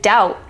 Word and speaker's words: doubt: along on the PDF so the final BT as in debt and doubt you don't say the